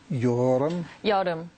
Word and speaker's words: Yeol Eum: once again okay um it's joram joram yeah like Walmart like the Israeli name yoga um yeah son